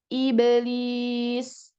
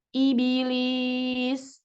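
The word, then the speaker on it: إبليس: Lalu iblis, tetapi dibacanya ibilis.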